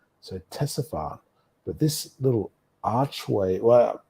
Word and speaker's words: Ctesiphon: So obviously the C is it's a silent C. So Ctesiphon.